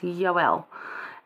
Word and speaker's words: Joel: we're in Hosea and Joel now we say Joel but his name is probably best pronounced yoel as in Jehovah and Elohim combine that's kind of what